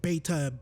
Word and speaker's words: Baytuh: Hopefully I'm not saying my name wrong when I'm saying that, right? Well, I'm saying Baytuh, B-A, because sometimes when I hear myself, when I say A, it sounds like I'm saying E.